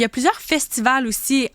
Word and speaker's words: festivals: f des festivaux des festivals merci c'est juste qu'on prononce pas le S à la fin des festivals oui exact c'est une